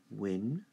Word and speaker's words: window: Window. All right, again. Window, window, window. All right, not window, window. All right, it's not right. Win is the stressed part.